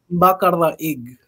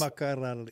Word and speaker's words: Macaraeg: Say it like a Filipino, yeah. Macaraeg. You have to roll the R's. Macaraeg.